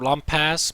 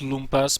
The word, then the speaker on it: lumpas: be Lumas uh or lump pass but I know it's pronounced Loompas because he's from uh Czech Republic uh versus Mage or